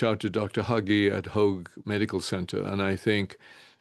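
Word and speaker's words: Hoag: H O G U E right h O G U E Hog H O A G Oh, sorry.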